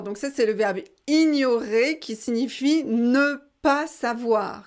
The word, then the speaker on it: ignorer: Surtout, il ne faut pas prononcer gne. Non, ça c'est pas bon. En français, c'est ni.